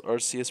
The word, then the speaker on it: Arceus: on how is rc is pronounced with a with an s uh in place of c now they're clearly for